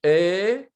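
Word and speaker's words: איכה: Donc, on va dire Eicha. En principe, on ne doit pas prononcer le Yod. Bon, ce n'est pas une erreur si on dit Eicha.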